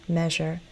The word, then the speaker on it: measure: pattern or not, but sometimes I don't say measure, I sometimes say measure. So I guess if I'm teaching, I'd probably recommend the more standard measure. Plus me rhymes with pleasure. We don't say pleasure.